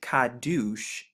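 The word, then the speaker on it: קדוש: it has four characters so we have the ku right here which makes the q sound the dollar the dollar to get the d sound the u and then the shan to get the s h and when we put it together we actually get kaddush which originates from right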